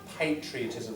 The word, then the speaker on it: patriotism: Howard intended to Advocate patriotism first syllable stress patri patriotism patri Patria mean Latin for Country there are lots of